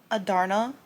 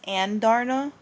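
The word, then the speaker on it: Andarna: Um, also I've been pronouncing Adarna. It's Anda.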